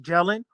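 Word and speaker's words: Gehlen: warfare experts in which jelen pronounced jellen organization spies assassins and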